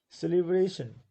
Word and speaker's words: celebration: Celebration, there are four syllables. Okay, it's four. Celebration, four syllables, and third one is stress.